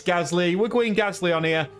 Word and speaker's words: Gasly: Leclerc P6 and Pierre Gasly. I know, I've seen a few comments on TikTok as well. I say Gasly, it's Gasly.